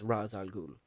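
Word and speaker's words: Ra's al Ghul: Technically, it's Raz. Okay, I've looked this up myself and I watched an entire like hourong YouTube video about the pronunciation of it from Arabic and it's it's Razal Ghoul.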